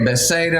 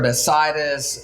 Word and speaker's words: Bethsaida: Okay, Bethsaida or Bethsaida, sometimes it's pronounced.